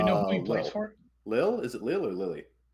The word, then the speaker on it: Lille: Lil? Is it Lil or Lily? I don't know. I don't know. You know what? I don't follow. Well, it's French. You generally pronounce less letters when it's French. Lille.